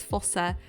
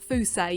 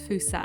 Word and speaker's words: fossa: foosa and i oh my gosh i've been pronouncing this animal as fossa for way too long it's foosa you pronounce it as fusa and i need to keep reminding myself because